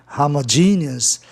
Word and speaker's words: homogeneous: Observe que em homogêneo, homogeneous, a palavra é proparoxítona em função do sistema especial com a terminação OUS, como análogo, analogous, né? Transforma a palavra em proparoxítona. Logo, a sílaba tônica vem na terceira casa silábica, que é justamente o E de GE, homogeneous.